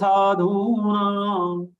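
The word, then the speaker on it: साधूनाम्: All three are long sound. To be pronounced with 2 units, 2 matras.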